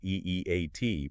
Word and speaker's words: E-E-A-T: And for anyone listening, that's E-E-A-T, pronounced as letters, not eight.